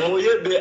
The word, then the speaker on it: Mouyebe: Mouyebe.